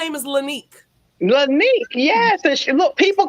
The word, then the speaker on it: Lanique: spelled it and I put the line over top the E to let them know it was Lanique, and they were like Lynette, Lanique. I'm like, no, it's Lanique, and they wanted me to spell it like you spell Monique. I said, no, she's different. She's gonna be Lanique with an E, and so yeah, it's just poor baby.